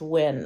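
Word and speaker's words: Nguyen: um win i think m-g-u-y-e-n is actually pronounced when i can't believe i might actually know that when like w-i-n um and so if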